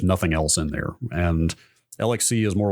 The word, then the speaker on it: LXC: I use LXC, or I think it's actually pronounced Lexi, but who knows how to pronounce anything in Linux.